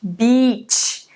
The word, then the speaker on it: beach: Bitch versus beach, beach.